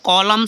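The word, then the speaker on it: column: हो गया हाइम ठीक है जैसे नेक्स्ट है कॉलम सीओ एल य एम ए तो कॉलम हो गया एन साइलेंट हो गया ठीक है अब नेक्स्ट है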